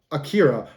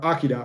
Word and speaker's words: Akira: I always say that the movie's Akira, but the character is Akira, just because that's how they pronounce it in the movie. Both are right.